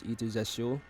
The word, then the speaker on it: Aether: My name is Ethu. That's how you pronounce it. probably not the way it's spelled, but I am an